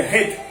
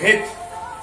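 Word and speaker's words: חית: C'est het, ça va être dans la gorge, het ou het, lorsqu'on la prononce. Et entre autres, en grec,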